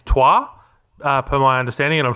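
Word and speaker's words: Troyes: I've been saying Troy's for like 100 episodes. I'm under the impression it's Trois. It's too late to go back now, Lockie.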